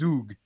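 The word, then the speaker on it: Zug: I'm from Switzerland you have to call this Zhuge so it will it will definitely be Zhuge from now on so we visited Switzerland and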